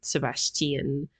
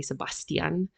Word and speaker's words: Sebastian: So, well, I mean, Sebastian, Sebastian, pronounce it however you wish. Um, it depends on which country you're in. We just normally say Sebastian. Um, but in this case, we'll go with Sebastian.